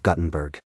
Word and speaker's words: Guttenberg: the unique charm of Guttenberg. The locals pronunciation of the town's name with a short u as in gut is a quirky detail that adds to the town's character.